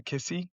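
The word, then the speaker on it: Cissé: Yeah, unless I'm really mispronouncing his name, his name looks like it sounds like Musa Kissi. Musa Musa Cisse, yeah, Saisi? Musa Saisi? Cisse, Musa Cisse, Sise.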